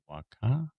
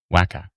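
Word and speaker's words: Wakaw: Waka tracking to the Did I pronounce it wrong? Wacka.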